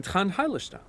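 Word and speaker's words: Trant Heidelstam: So Trent Hildestam turns out to be special consultant Trent Hildestam. Yes, I'm Trent Heilerstam.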